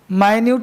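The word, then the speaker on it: minute: माइन्यूट कहते हैं छोटा को, माइन्यूट छोटा सूक्ष्म, माइन्यूट को पढ़ लो मिनट, मिनट का स्पेलिंग सेम होता है। माइन्यूट पढ़ो तो सूक्ष्म, मिनट पढ़ो तो मिनट वाला इकाई।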